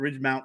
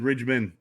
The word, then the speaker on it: Ridgemont: She always says Fast Times at Ridgemont High. No, I said Ridgemont. No, you said Ridgeman.